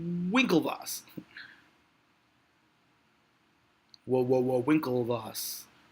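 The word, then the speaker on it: Winklevoss: rash it's not vinkle Vos it's whoa whoa whoa whoa whoa whoa Winkle Vos Winkle Vos there's no V how can you pronounce w with a V it's a freaking W it's Winkle boss whoa whoa whoa Winkle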